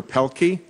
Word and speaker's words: Pielke: we now have uh Dr Roger pelky I've pronounced it correctly I see by your name not by your head nodding yeah you got it that's and uh